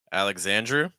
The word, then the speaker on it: Alexandru: Alexandru. That's interesting. It's like a mix of. I feel like Americans would pronounce it as a mix of like Alexander and Andrew. It's like Alexandru.